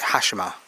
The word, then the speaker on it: Hashima: How do you pronounce it? Hashima.